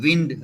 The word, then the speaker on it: wind: and this word wind not wind it is wind word blowing in the wind so that if you pronounce wrongly it means you have not attended